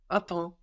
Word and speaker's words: attends: So we have the M silent because it's at the end of the syllable. No, and that's also affecting the vowel before. It's getting swallowed up in the nose. Ta, and then the P and the S, we also just forget about them.